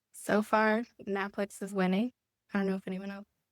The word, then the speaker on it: NAPLEX: The correct way, which is NAPLEX.